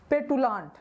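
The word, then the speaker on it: petulant: मुझे क्या पढ़ना है, P से पे और TU से टू, मतलब पेटू, ठीक है।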